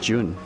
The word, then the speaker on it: Zhiyun: i don't have desire i think it's pronounced june june no june i would say i think it's pronounced june other ways i find